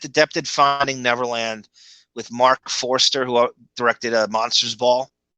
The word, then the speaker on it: Forster: i know how it's yeah but they wrote it wrong they wrote it foster and it's forster it'll be on the